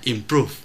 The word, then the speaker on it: improve: hai là trọng âm, chữ improve trọng âm rơi vào prove tức là âm tiết thứ hai, chúng ta đọc là improve.